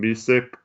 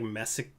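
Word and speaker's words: Micić: And they also gave up the rights to, I don't know how to say his name, Misic, I think is his name. Misic. Isn't it like Messick? It's Micic. Oh, Yeah, but I don't know.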